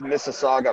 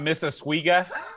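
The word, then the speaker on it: Mississauga: man I wouldn't miss for the world it's pronounced Miss Saga by the way not missa it's not Mrs I know I thought he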